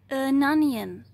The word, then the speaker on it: onion: A onion, cibule. Výslovnost je matoucí, není to o, je to a.